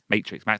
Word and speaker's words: Matrix: Yeah, in 別に Japanese it's 5 syllables. When I say it, it's 2. Matrix.